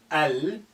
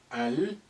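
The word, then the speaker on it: المشط: Mim is a moon letter. Al-mishtu. Al-mishtu. Let's put the kasr of ta a little bit above. Al-mishtu. Well done. So the principle of moon letter with L of the is you retain the sukun on the lam.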